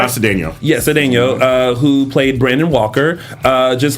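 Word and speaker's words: Cedeño: yes, and speaking of ex-cast members who were appearing on shows, Matt Cedeno, did I pronounce that right? Matt Cedeno. Yes, Cedeno, who played Brandon Walker, just landed a role on the originals, which returns to the CW on January 29th.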